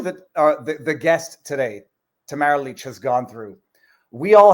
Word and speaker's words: Tamara Lich: of Tamara Leach and I double checked as to the four variations of the pronunciation of her name Tamara leech being arrested I think